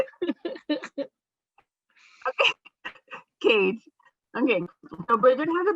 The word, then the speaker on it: Koetsch: We're here with Bridget Cash. I always say her name incorrectly. It's Koetsch.